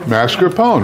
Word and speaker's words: mascarpone: pronounce it? Mascarpone, right?